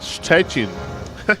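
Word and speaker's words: Szczecin: Can't spell it, but it's pronounced stretchin.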